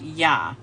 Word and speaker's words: yod: of the letter yod the Hebrew letter yod which is pronounced yah and according to the